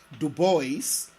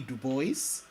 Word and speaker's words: Du Bois: legend william edward berger du bois more popularly known as w.e.b du bois and yes du bois not dubois and being faithful to the way he pronounced his name w.e.b dubois was a